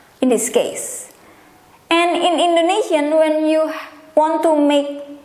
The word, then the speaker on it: Indonesia: but it's an come foreigner will call my country's name Indonesia but how Indonesian call or pronounce their own country's name including myself is this way Indonesia Indonesia Indonesia Indonesia Indonesian as language again it